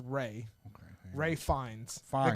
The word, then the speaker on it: Ralph: It's Ralph Fiennes. Ray, or that's Ray. His name is pronounced Ray.